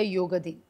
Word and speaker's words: योग: शब्द बनला तो म्हणजे योग पहिली गोष्ट म सांगायची म्हणजे योग हा शब्द योग असाच उच्चारला गेला पाहिजे योगा असा उच्चारायचा नाही हो तो आप योगा